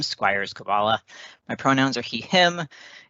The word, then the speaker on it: Skwiers-Koballa: at a later time that is how you pronounce my name squires kabbalah my pronouns are he him if you find